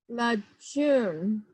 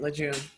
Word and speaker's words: Lejeune: Lajun. Am I pronouncing your name right? Yes, that's right, Lejeune.